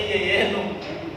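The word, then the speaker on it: jejunum: Tulisannya jejenum ya. Dari dulu kayaknya kami bacanya juga jejenum, tapi kemarin sempat cari bacanya yeyenum. Kayak tepat bacanya.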